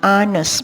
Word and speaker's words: honest: Contohnya, the woman was intent on finding an honest lawyer. Itu adalah yang benar, tetapi honest yang kedua adalah salah atau incorrect. Jadi huruf H di sini pengucapannya adalah menggunakan honest, menggunakan huruf vokal o.